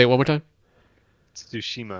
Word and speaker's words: Tsushima: Tsushima. Like Tsushima. The T and make the T and the S sound together, like Tsu.